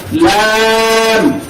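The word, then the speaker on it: لام: আমি বলবো, এরপর সবাই একসাথে বলবেন লাম লাম লাম লাম লাম লাম লাম কানসার কণ্ঠে Lam.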